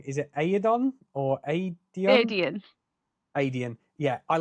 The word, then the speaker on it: Aedion: The cousin, I'm going to pronounce this wrong. Is it Aedon or Aedion? Adian.